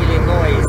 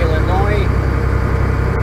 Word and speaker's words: Illinois: name to Russian because in Russian they pronounce all the letters and they say Illinois where the of course in English Illinois same thing as the